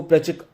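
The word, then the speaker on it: Plutchik: Then प्लचिक, इसको प्लचिक बोला जाता है, टी बेसिकली साइलेंट है, तो प्लचिक ने बेसिकली बोला कि भाई 8 इमोशन है प्राइमरी इमोशन।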